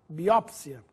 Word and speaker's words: biópsia: forma com acento autópsia biópsia ou biopsia significam a análise de um tecido vivo mais uma vez a forma preferencial É com acento É a mais usada biópsia biótipo ou Biotipo a